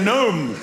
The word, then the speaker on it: gnome: very subtle flavor and the gnome will be the symbol of silent letter death.